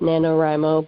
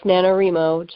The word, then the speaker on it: NaNoWriMo: not and I know some people pronounce it pronounce it NaNoWriMo but I'm one of those I like the re sound for whatever reason so it's NaNoWriMo to me and that was Kasia